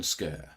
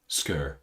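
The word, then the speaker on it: Schur: And Aaron says it's pronounced as if it's spelt Skur. Aaron Skur. Okay, that makes sense. So SCH is Sk rather than Sh.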